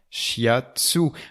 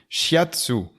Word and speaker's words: shiatsu: français fiat sous voile à la prononciation française tout simplement shiatsu aller et répète après moi petit papillon she hate sous shiatsu shiatsu voix l'a fait